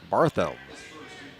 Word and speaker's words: Barthelme: Barthelme. The official pronunciation.